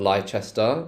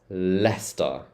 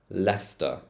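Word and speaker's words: Leicester: make all the time it's not liester or ler it's leer leer so you can think of it as L ster Lester Lester square leester square all right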